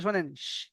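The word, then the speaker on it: شين: এখানে সবাই আমারটা ভালো করে মন দিয়ে শোনেন। শিন। শিন, যেমন আমরা বাংলা থেকে বলে থাকি হাঁস। হাঁস, এই যে হাঁস, যে যে লাস্টে আসছে, যে উচ্চারণটা হাঁস, এই উচ্চারণটা এখানে হবে।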